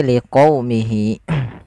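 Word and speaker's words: لِقَوْمِهِ: Jangan diganti dengan huruf kaf. Liqaumihi enggak, tapi liqaumihi. Yaitu di sini kita untuk menyempurnakan dari fathah bertemu dengan huruf waw. Dan agar sempurna dalam pelafalan wawnya kita monyongkan sedikit.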